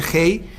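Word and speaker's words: ה: h la palabra Hache es una letra hebrea que se pronuncia Hey Es como una espada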